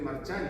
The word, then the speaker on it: Marciani: Polo pero Marci Marchani, fíjense, este apellido es Marciani y en algunos está escrito con CH para que suene Marchani, porque en italiano se dice Marchani, por eso digo los los apellidos se han cambiado, ¿eh?